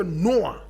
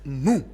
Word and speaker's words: Nuer: Today we are looking at marriage amongst the Nuer. We pronounce it Nu.